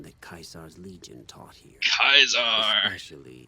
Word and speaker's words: Caesar: Kaiser's Legion taught here kaisar any I forgot they pronounce it like this and what's funny is only these guys pronounce it like that too go with a oh